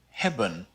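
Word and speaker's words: hebben: up with that well it falls in an unstressed syllable so we call it the mute e even though it's not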